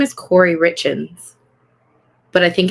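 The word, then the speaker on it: Kouri: forever yeah Mel I think her name is Corey richens but I think it's spelled k o u r i I [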